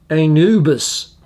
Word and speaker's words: Anubis: And it's pronounced Anubis.